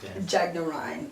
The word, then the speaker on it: Jagnarine: You're Dr. Tariq Jagnarine. Am I saying it correctly? That's correct. Okay.